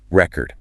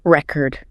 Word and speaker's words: record: We say record. Record.